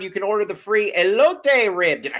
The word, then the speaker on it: elote: They got very nice TV setup, and you can go in there and you can order the free elote rib. Did I say it right, elote?